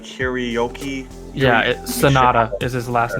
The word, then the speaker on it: Hiroyuki: A lot of people call him Henry, but it's like Hiroyuki.